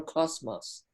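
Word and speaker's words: κόσμος: did is it or cosmos oh i'm sorry i must have slipped yes it's it's just a straight s it's not a it's not a buzzy uh s yeah cosmos cosmos cosmos oh i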